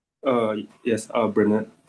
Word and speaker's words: Bernard: So, uh, am I pronouncing your name correctly? Uh, yes. Uh, Bernard. Correct. Bernard.